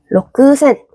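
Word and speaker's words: 六千: 그래서 우리도 로크센이라고 정직하게 발음하기보다는 록센이라고 받침처럼 발음해 주시면 좋아요.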